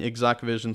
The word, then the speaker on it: exacqVision: it on the screen i'm using exact vision software it's spelled ex acq vision so google exact vision